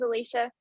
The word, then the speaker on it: Alicia: Yes, you are saying it right. It is Alicia.